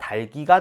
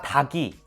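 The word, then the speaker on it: 닭이: 중에 기억이 올라가야 하니까 달기가 되겠네요 혹시나 다기 이렇게 발음하는게 자연스러운 사람도 있을 거예요 하지만 그건 틀린 발음입니다 체크해 놓고 교정하여 됩니다 다기가 아니라 달기 있니다 안 따라는 어간 안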